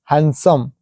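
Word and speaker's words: handsome: तो ठीक है देखो हैंड प्लस सम हैंडसम देखो डी आया लेकिन हम डी जो साइलेंट रहता है हैंडसम नहीं बोलते हैं हैंडसम है वो हैंडसम देखो यहां पर भी आया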